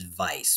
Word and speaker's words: Weiss: we're talking about but the correct way to pronounce it is vice because Vice in German means white so white